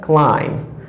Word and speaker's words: climb: No, it's not all lamb, but it's all lamb because this letter is not pronouncing. Okay. After that we have climb.